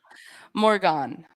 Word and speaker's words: Morgane: Morgane. That's how she said it.